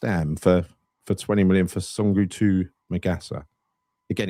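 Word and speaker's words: Soungoutou Magassa: Sungutu Magassa, that's how you say it, isn't it?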